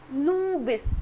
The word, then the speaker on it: Lewis: You have to pronounce it as Lewis. L-E-W-I-S. L-E-W-I-S. It is Lewis.